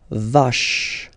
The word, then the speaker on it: vache: Normally when you end a word with e, well, basically you don't really pronounce the e, you will pronounce this sound at the end. So, vache, vache, une vache, une vache, okay?